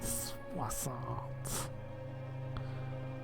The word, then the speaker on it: soixante: And then soixante. And then we have 13. 13. 60 rhymes with croissant.